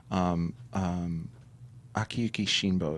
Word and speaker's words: Akiyuki Shinbo: Akiyuki Shinbo is the director.